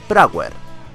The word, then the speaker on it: Prower: como todos le conocemos miles tales prower un nombre bastante especial pues es el homófono a la pronunciación inglesa miles per hor que significa millas por